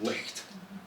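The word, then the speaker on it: licht: In Scotland the old word for it was lick. See that hard ch.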